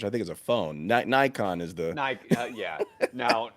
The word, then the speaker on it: Nikon: think is a phone nikon is the uh yeah now now the americans call it nikon if you're in the community you need the japanese pronounce it nikon which is right of course they do